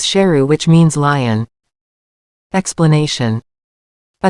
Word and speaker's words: Sheru: Saru also just found out that he had been mispronouncing his name all this time. His real name is Sheru, which means lion.